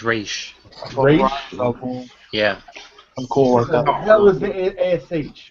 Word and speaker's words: Ra's al Ghul: I usually pronounce it Ra's al Ghul. Yeah, it's Raish.